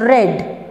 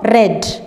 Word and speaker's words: read: read in the past the spelling is the same but it is pronounced as red and past participle form is also red burst remains the same